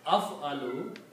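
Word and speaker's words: أَفْعَلُ: This will be pronounced as af aloo.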